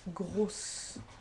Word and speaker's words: grosse: Example, the usual example is rose and grosse. Okay, so you can see here vowel, vowel. This is one S and it's pronounced as Z. Vowel, vowel. This is two S's and therefore the pronunciation is S.